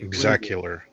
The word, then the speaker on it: EXE Killer: Exact killer. EXE Killer. That's how they pronounce it in the trailer, though.